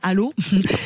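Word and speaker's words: Allauch: Allô, ça s'écrit àoche mais ça se dit à donc on est euh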